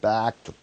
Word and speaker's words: back: 이는 어에 있어서 북한을 데리고 오기 위한 노력에 있어서 어디로 back 할 때 애 발음입니다. 애 발음이니까 대충 백이 아니고 back to the Six Party talks 이렇게 되는 거예요.